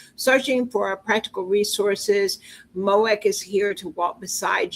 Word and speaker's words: MOEK: I've put the uh mothers of exceptional uh kids that is and how do you pronounce the is it Mo?